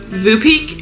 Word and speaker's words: Voopeak: So, if you haven't heard of this brand, this is Vupek is how you say that.